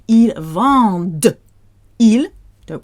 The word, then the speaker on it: vendent: Again, that ENT is silent, but we are going to be spitting out the D. Ils vendent.